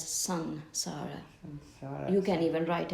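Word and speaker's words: Saṃsāra: Samsara, S-A-N or S-E-N? It's actually S-A-M. S-A-M. It's written as S-A-M, but it's pronounced as Sansara.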